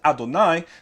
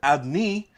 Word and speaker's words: Adonai: spelled without Holland so with or without halam is still pronounced Adonai they do not pronounce it adni you know they know